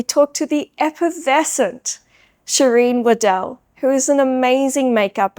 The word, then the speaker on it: Waddell: Miss Chereine Waddell, tell me a little bit. Did I pronounce that right? You did. Oh, thank You didn't God. say Waddle, so thank you.